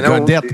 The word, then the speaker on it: Gaudet: Il s'écrit pas Godette T-T-E, mais c'est Godette pareil.